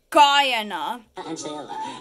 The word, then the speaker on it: Guyana: but it's not it's a u.s territory it's pronounced guyana guatemala bolivia then argentina and ecuador bermuda